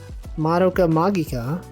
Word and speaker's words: Madoka Magica: But I remember that's when I learned it was pronounced Madoka Magica, because I think there were like a bunch